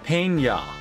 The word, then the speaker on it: Pena: It's Pena. That's how it's pronounced.